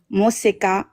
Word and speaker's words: Mosa: So how you say the name is Mosa. That's how you say it.